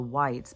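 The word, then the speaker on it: wights: And then on the Game of Thrones, because I went and looked it up, so the whites, but it's not spelled like the color white, it's W-I-G-H-T.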